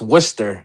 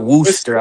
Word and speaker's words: Worcester: It's Worcester, not Worooster.